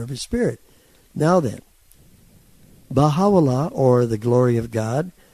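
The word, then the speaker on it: Bahá'u'lláh: In Arabic, which is the language it was given, it's pronounced Baha'u'llah. Glory of God, okay?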